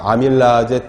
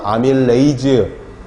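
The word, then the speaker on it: amylase: 예전 교수님들은 다 폴리페놀 옥시다제, 페놀라제, 아제로 발음했죠. 요즘은 에이즈로 발음을 많이 합니다. 그러니까 아밀라제 또는 아밀레이즈, 리파제 또는 라이페이즈 또는 프로테이즈.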